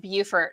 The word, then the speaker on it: Beaufort: Someone said, "Hey, Simplified, Beaufort is pronounced Beaufort, not Beaufort." I know it makes no sense, but that's how South Carolinians say it. Yes, South Carolinians say it, but not North Carolinians. So there's 2 ways to pronounce that word, actually.